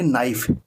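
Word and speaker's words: knife: हम क्या बोलते हैं नाइफ के एन आई एफ ई तो बच्चों इसमें इसको हम बोलेंगे नाइफ के जो है वो साइलेंट रहता है इसलिए हम इसका उच्चारण नाइफ कर और नाइफ से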